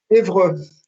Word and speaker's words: Évreux: Évreux, Catedral de Évreux. Eso es difícil de pronunciar.